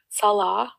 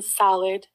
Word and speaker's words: Salah: They mispronounce my Syrian husband's name, Salah, which means prayer in Islam, by the way. They call him Salad, right in her thumbnails.